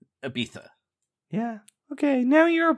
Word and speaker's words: Ibiza: I met him in Ibiza that's how you say it that is not how you say it but keep going to be keep going yes it's it's Ibiza Ibiza yeah okay now you're